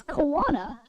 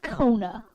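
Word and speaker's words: Koana: It's pronounced Kona. I guess the A in the middle of the name is silent for some reason.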